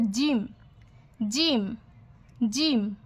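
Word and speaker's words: ج: ব্যাস, এর পেটে যদি আমরা একটি মাত্র নোক্তা দিই তাহলে হয়ে যাবে জিম, জিম, জিম। উপরের দাঁত এবং নিচের দাঁত একত্র হয়ে উচ্চারণ হবে জিম, জিম, জিম।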